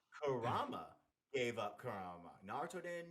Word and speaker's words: Kurama: but he gave up kurma to save BTO and no no say it right say it right Patrick Kurama gave up Kurama Naruto